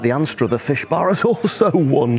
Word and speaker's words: Anstruther: Now, Anstruther's one of those places where you can pronounce the town name in different ways. Anstruther is its Sunday name. It's the English pronunciation. If you're a local, and we're in Scotland after all, a lot of people call it Ainster. Ainster, that's the Scots pronunciation of Anstruther.